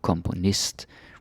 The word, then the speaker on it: komponist: And notice how componist, we put the stress on the ist.